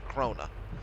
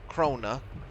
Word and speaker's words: Krone: I think correct pronunciation in German is Krona.